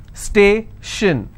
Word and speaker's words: station: Station, so I will stress on stay.